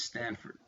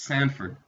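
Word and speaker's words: Sandford: look at Dread Scott versus Stanford sorry Dread Scott versus Sanford bad pronunciation tonight guys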